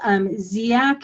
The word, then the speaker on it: Dziak: The first author is Ziak, and the paper is Ziak et al. It's spelled D-Z-I-A-K.